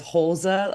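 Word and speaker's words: Holse: So the pronunciated guide on City has Holza, almost like an at the end, but I've also heard Holze, and I don't think that doesn't sound very Danish to me.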